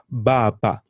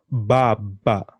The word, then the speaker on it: baba: So the A becomes A, just like the way we say apple, A. Very important. For example, on a word like father, baba. Can you try and pronounce that? Baba. Say that again.